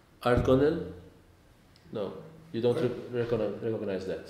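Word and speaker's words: Ardgonnell: crossing at, now, pardon me if I don't pronounce it correctly, Argonel?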